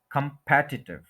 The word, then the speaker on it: competitive: ये वर्ड है competitive, competitive, competitive, competitive जो है वो कोई लफ्ज नहीं होता है, competitive, competitive, 4 syllables हैं, सेकंड के ऊपर स्ट्रेस है, competitive, इसको आप सुन लें।